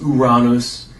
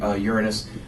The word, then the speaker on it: Uranus: Although technically it should be pronounced Uranus. That is a little too much of a stickler even for me. I prefer Uranus, which is actually funny